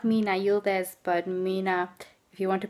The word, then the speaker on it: Mina: for social media into not Mina Yildiz, but Mina, if you want to pronounce it the English way, it's Mina.